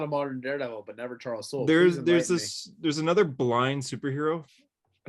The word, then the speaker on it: Charles Soule: As an expert on Soul's Daredevil. As an expert. Doesn't even say his name right. It's Charles Soule, not Soul.